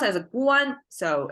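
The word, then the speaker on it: 官: can see here this character means official uh pronounced as a Guan so it's a garment like the emperor assigned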